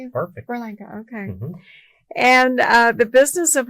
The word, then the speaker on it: Berlanga: And again, everyone watching, listening, Jose Berlanga. Did I pronounce that correctly? Yeah, perfect. Berlanga, okay.